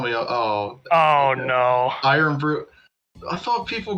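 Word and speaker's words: Irn-Bru: Iron Brew. I thought people called it Earn Brew. It's kind of spelled like that, though.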